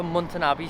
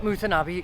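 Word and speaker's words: Mutanabbi: We're at Mutanabi Street now. I was pronouncing it slightly wrong.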